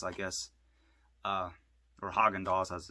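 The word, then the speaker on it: Häagen-Dazs: ice cream and they had a lot of hagen dos i guess uh or haagen-dazs as it's pronounced used in this film it's so cheesy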